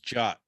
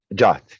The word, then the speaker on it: Djot: So it's Djot. Djot, yes, the D is silent.